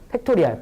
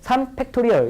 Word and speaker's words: 팩토리얼: 팩토리알, 팩토리알, 팩토리알. 3팩토리 아니에요. 그건 공장이고. 알았죠? 3팩토리얼 이렇게 읽으시고요.